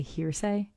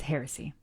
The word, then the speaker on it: heresy: I always get heresy is a word that I struggle with. I don't know why. I always want to say hearsay, even though it's spelled differently. Anyway, but this is heresy, and I must not say it.